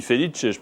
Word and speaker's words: Félix: Pardon, j'ai dit Felice, j'aurais pu dire Félix tout simplement. Voilà, les deux prononciations.